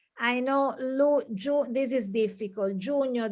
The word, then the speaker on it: giugno: Giugno, the GNI is difficult. Giugno, and GLI, luglio, is difficult to pronounce.